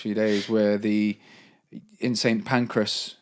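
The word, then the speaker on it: St Pancras: days where the in St panras is how you say how we say St pancreas pan St panras station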